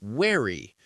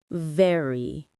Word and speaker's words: vary: This one is interesting because Chinese doesn't have the VV sound. Exactly. Many learners say wary. The reason is that V and W are made in almost the same mouth position. So, here's the difference. For VV, bite your lower lip gently and make your voice vibrate. VV vary. And for W, your lips are round like you're going to whistle. Try saying V W V W to feel the difference.